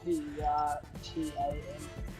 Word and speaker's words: Pertam: I thought I was reading it wrong because, yeah, like maybe I looked at a website that Pertum. couldn't spell. P-E-R-T-A-M.